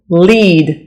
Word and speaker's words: lead: it's call tournament tournament tournament tournament middle middle lead it's a a long e sounds listen lead